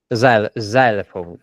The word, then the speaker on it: xylophone: African drum, okay, xylophone, xylophone, okay, xylophone. okay. The word xylophone has a sweet pronunciation, in my opinion, but it's pronounced xylophone. It's not xylophone, it's xylophone. Okay, and you will see the pronunciation about.